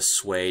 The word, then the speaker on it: Sui: disunion and finally the swea dynasty you see it spelled sui but it's pronounced this way it's okay so we